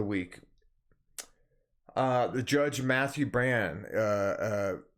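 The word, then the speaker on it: Brann: uh the judge matthew brand uh uh i think he pronounced it bran b-r-a-n-n b-r-a-n-n matthew bran of the united states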